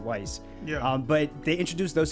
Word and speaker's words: Weiss: it as it weiss i always pronounce it wise yeah but they introduced